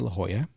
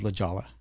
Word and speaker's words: La Jolla: I first moved to La Hoya I mispronounced La Hoya it was LaLa and it's funny 20